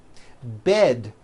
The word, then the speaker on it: bed: Bed has a voiced D ending.